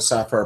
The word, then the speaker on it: Safire: of stuff on the sapphire project um if they type in the sapphire project but it's spelled s a f i e there is there's lots